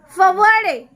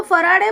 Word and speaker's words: Faraday: He could not even say his own name and would call himself Fawade, right? Because उनका problem था, R को वो W बोलते थे, so that he can't pronounce his own name. अपना नाम भी वो गलत ही बोलते थे. जब उनको फराडे बोलना होता था he say फवाड़े.